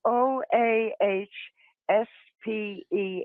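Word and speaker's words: Oahspe: again so I can say it right uh it's spelled o a s p and it's pronounced oasp oase I wanted to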